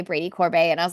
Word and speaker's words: Corbet: This whole time, I thought it was Brady Corbett. And then I heard someone say Brady Corbet, and I was like, what?